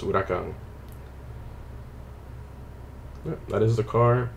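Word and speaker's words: Huracán: yes, it is pronounced Huracan. All names are Spanish, not Italian. Look that up if you don't believe me. It's a common misconception. People are like Huracan, and they try to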